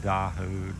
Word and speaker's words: Dao: One said, I believe you'd pronounce it Dahu, D-A-O.